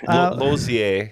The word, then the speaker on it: Lozier: Lozier. Lozier. Lozier is the French way.